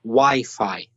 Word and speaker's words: Wi-Fi: way that crazy said but it's not it's Wi-Fi that's kind of logical if you know the origins of it because it's wireless fidelity